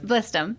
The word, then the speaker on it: Blizdom: Is that, did I say it right? Blizdom, yes. Blizdom. Blizdom. There you go.